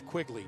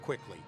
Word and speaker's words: Quigley: pronounce my last name it's Quigley not quickly oh jeez no you